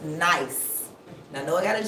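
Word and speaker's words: gneiss: yes it's pronounced nice even though it's spelled g n i s s it's pronounced nice so a metamorphic rock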